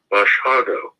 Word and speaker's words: Basiago: matter of professional courtesy, my name is a Polish surname pronounced Basiago.